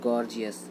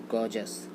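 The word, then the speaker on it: gorgeous: बहुत ही अच्छा लगता है बोलने में गॉर्जियस, बट ये राइट प्रोनाउंसिएशन इसका नहीं होता है। इसका राइट प्रोनाउंसिएशन होता है गॉर्जस। गॉर्जस।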